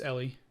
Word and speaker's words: Ellie: I thought it was Elle. It's Ellie. Ellie, oh.